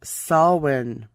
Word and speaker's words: Samhain: be spelt samhain s-a-m-h-a it's an irish pronunciation pronounced salwin salmon was a period